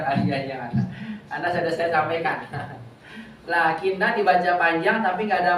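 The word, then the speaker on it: لٰكِنَّ: Bagus, la-nya wajib dipanjangkan. Lakinna. Jangan dibaca lakinna khata. La-nya dibaca panjang walaupun tidak ada alif.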